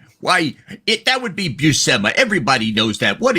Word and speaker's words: Buscema: Aaron, can you give me the correct pronunciation of John's last name? Why, that would be Buscema.